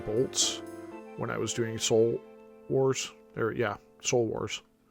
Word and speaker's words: Soul Wars: when I was doing Soul Wars or yeah soul Wars can never say it right but I actually did first first try that time I always try to say Souls Wars anyway yeah I think